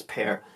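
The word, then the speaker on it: Pär: Now, before this, I think his name is not pronounced Par, it's Pear.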